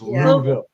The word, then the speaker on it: Louisville: We're pronouncing it wrong. Even though it's Louisville, like just Louville. You're supposed to like choke on the word.